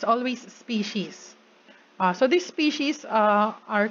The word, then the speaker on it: species: these species against species are always pronounced with an s and written with an s even if we're just throwing to one group um so yeah it's always species so these species uh